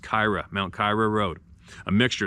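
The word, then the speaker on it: Keira: escarpment for cyclists is Mount Kiera Road pronounced Kyra Mount Cairo Road a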